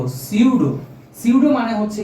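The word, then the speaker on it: pseudo: 2 number, আসলে বাংলা নামটা দেখলে, এই নামটা দেখলে অনেকে উচ্চারণটা, আমিও তোমাদের মতো ইন্ডিয়া থাকতে সুডো কথাটা উল্লেখ করতাম, আসলে সুডো না, এটার নাম উচ্চারণটা সুন্দরভাবে হবে হচ্ছে সিউডো।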